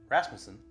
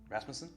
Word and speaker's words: Rasmussen: podcast thanks for listening we are interviewing rasmon rasmason that's it I've pronounced it correctly one for one so far